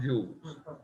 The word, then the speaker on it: joules: is measured in joules it looks like jowls but it's pronounced joules okay big j okay